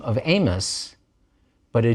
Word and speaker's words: Amos: and we call him amos we don't pronounce the i and we just go right to the vowel sound but amara also starting